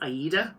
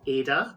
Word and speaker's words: Aida: Her name is Aida, although when I was reading the books, I pronounced it Ada because...